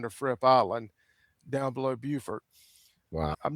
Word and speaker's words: Beaufort: I had to be careful because in North Carolina there's a Beaufort and they're spelled the same as that way. So South Carolina it's Beaufort, North Carolina it's Beaufort. And one of my areas